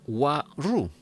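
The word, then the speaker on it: Waroo: La paciente responde, sí, excepto Wa-Ru. Este es otro nombre, ¿no? Se escribe W-A-R-O-O.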